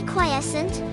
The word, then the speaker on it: quiescent: on a beautiful summer Sunday to be quiescent pronounced q-w-h-y-s-sn is to be quiet resting which is